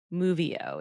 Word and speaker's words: MoveO: And for those that would like the spelling, it's move, like we're going to go on a move. Move O walks. Movio is how it's pronounced, though.